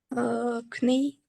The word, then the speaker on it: knee: Knee. Number 10. Yes, but when you pronounce this word, you don't say the first letter K, you just say knee, knee. So here is a silent letter.